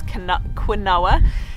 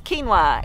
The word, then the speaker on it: quinoa: Some people mispronounce it as quinoa, but it's quinoa, and it is the cold weather cousin of amaranth.